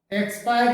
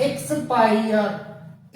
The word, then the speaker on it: expire: चुका हो, उस व्यक्ति के लिए हम EXPIRE एक्सपायर यूज करते हैं कि इसकी ये एक्सपायर, ये